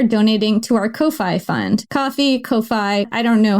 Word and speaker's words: Ko-fi: Ko-Fi, I don't know how to pronounce this. Ko-Fi. It's spelled Ko-Fi, but I guess it's supposed to be coffee.